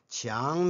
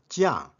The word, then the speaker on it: 强: Qiang means strong, powerful. This character has another pronunciation, Jiang, stubborn, unyielding.